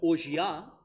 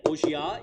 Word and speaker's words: orgeat: But yeah, Orgeat is the way that I've learned to pronounce it.